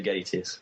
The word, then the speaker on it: Gatiss: He'll kill you though if you don't say Gatiss.